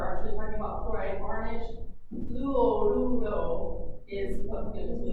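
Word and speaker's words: fluoruro: It is fluorudo. Notice I'm trying to roll my tongue a little bit. Fluorudo. And if it's faster, it sounds more like fluorudo. Kind of wavy, all right?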